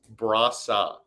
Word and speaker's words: Brossoit: to pronounce hockey reference phonetic pronunciation is Laurent Brasa Laurent bra Brasa there you go you keep trying to throwing a w in there I I know because